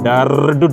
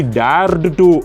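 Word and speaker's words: dared to: காரணம் இந்த டேர் டு அண்ட் டேர்டு டு ரெண்டுத்தையுமே ஸ்பீடாக ப்ரொனவுன்ஸ் பண்ணும்போது கண்டிப்பாக டேர் டு அப்படின்னு தான் ப்ரொனவுன்ஸ் பண்ண வேண்டி இருக்கும். ரொம்பவே அழுத்தி டேர்டு டு அப்படின்னுலாம் சொல்ல வேண்டிய அவசியம் கிடையாது. அது சரியாகவும் இருக்காது.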